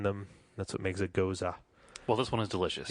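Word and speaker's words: Gose: Not Goes. When I first saw these types of beers, I kept calling them Goes. Or Goose. Or Goose. But apparently the German pronunciation is Goza.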